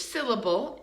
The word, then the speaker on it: syllable: We're going to think about where is the schwa in the word syllable. Syllable. It's in the second one. Syllable. Even the third one is reduced, right? Syllable.